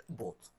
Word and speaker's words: bought: طبعا عارفين إن الجي اتش هنا سايلنت ما بنطقهاش. grow grew sell sold buy وكلمة بوت.